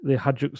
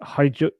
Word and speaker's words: Hajduk: of something to the Hajduk split. That's not how you pronounce it, is it? Someone told me off for calling it. Is it Hajduk? I think it's Hajduk.